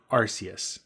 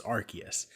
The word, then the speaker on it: Arceus: not why i'm here pokemon legends arceus not arceus which is how i've always pronounced it apparently it's it's arceus that was the nuke they dropped this looks